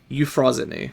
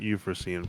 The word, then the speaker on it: Euphrosyne: that's you eity yeah I have to look up how to pronounce it it's apparently eupo our dreams may yet become reality I called it eupen for the longest time CU that's what it looks like I still